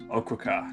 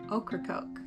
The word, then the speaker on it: Ocracoke: Ocracoke. No. Ocracoke.